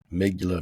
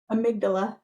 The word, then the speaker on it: amygdala: knows it's super overwhelmed yeah so the amygdala amigula duh how you say it amygdala yeah okay that's a mouthful for me especially